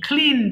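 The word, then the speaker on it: clean: এরপর আসেন ক্লিন, পরিষ্কার করা, ক কে অবশ্যই খ বলবেন, কিন্তু আমি যেহেতু অভ্র দিয়ে লিখেছি তাই এখানে আমি খ লিখতে পারিনি, বাট উচ্চারণটা খ দিয়ে করবেন, হ্যাঁ, আমার সঙ্গে একটু বলেন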